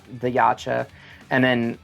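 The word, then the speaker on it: Yautja: going back to the, say it again, I can never pronounce it. Laksha? Yacha. Gotcha? Yacha.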